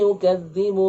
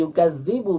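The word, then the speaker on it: يُكَذِّبُ: Kesalahannya biasanya ada 3 macam. Yaitu merubah zal menjadi zai. Ini banyak. Yang seharusnya yukadzibu dibaca dengan yukadzibu. Ya. Fadzalikal ladzi ara'aital ladzi yukadzibu bid-din.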